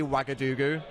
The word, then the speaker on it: Ouagadougou: It's actually Ouagadougou. Oh. You spell that OuagaG.